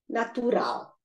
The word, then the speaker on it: natural: They both have 3 syllables and the stress is on the last syllable. So we have the papel, animal, natural.